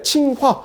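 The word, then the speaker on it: 清华: 이게 칭화, 이게 굉장히 익숙해요. 근데 우리는 그게 아니라 청화, 중화할 때 화가 아니라 청와. 그래서 파란 지붕이잖아요. 근데 중국인들이 이걸 이해를 못합니다. 그래서 중국인들을 할 때 자기네처럼 익숙한 칭화인 줄 알고 우리나라 청화를 갖다가 칭화로 하는 뭐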